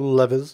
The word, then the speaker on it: levers: Now we walk up here, we can see we have five levers, or levers for those of you who prefer to pronounce it that way, and they're labeled A, B, C, D, and E.